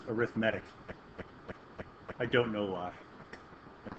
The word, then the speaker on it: arithmetic: I couldn't I couldn't not see the word arithmetic but in this context it's pronounced arithmetic I don't know why I don't know I'm